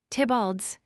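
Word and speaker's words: Theobald: Tibald's Lewis Theabald pronounced Tibald a scholar who had attacked Pope's addition of Shakespeare.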